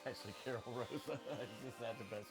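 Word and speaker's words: Karol Rosa: Oh, but how you actually pronounce her name? It's actually Carol Rosa.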